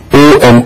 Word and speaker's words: Om: a very powerful sound mostly people spell o in English as o m o but it is a wrong way of expressing it it's basically a u n because om syllable is made up of three letters u u combined into one that's what own is each